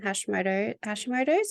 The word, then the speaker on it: Hashimoto's: Can you run us through Addison's and Hashimoto's? Is that how you pronounce it?